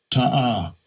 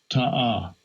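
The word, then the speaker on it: תָּעָה: How you pronounce it? Strong's H8582. Ta'ah. Ta'ah.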